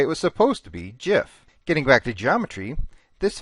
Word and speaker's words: GIF: way to say it it's supposed to be Jif like the peanut butter so there's a big internet debate about whether you should pronounce it the popular way GIF or the way it